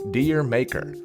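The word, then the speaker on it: D'yer Mak'er: 1973 Led Zeppelin released their universally mispronounced reggae rock classic deer maker when said properly with a thick Cockney accent the title sounds like the Caribbean island where reggae began what is this island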